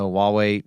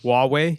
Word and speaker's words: Huawei: We we we we saw Leica paired up with with a camera company out of China, Huawei, to to make lenses for them. Say that again. Huawei.